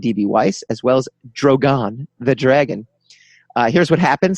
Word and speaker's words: Drogon: Well, it's not Drogan. I didn't say Drogan. Drogon. Drogon. They've pronounced it Drogon for almost 10 years.